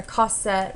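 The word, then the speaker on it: Cosette: and uh colette try to get together or cossette why did i say her name wrong but um she was helping marius get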